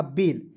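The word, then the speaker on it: bail: तो ए आई का उच्चारण एक एक के रूप में करेंगे। समझ गए? जैसे बी का ब ए आई एल तो ए का ए आई का उच्चारण एक एक रूप में करेंगे तो हो जाएगा बेल।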